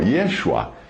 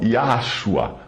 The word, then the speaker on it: Yeshua: judeu, que use então o seu nome original, Yeshua, e não Yahshua ou Yahusha. Lembrando que o poder do nome não está na pronúncia, mas na pessoa que o nome representa.